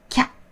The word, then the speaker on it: きゃ: So when you pronounce them, think of ya as a main sound and then add ki in front of it. Ya, ya, kya, ya, ya, kya.